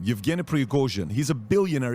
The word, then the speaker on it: Yevgeny Prigozhin: Number one, the guy behind Wagner Group is a guy, and I want to pronounce this correctly. Yevgeny Prigozhin, okay? Prigozhin, that's his name. Yevgeny Prigozhin.